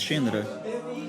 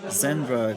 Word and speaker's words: Xendra: then we had this shindra in Brazilian Portuguese we pronounce it like this some some people say Sandra Sandra zindra and um it was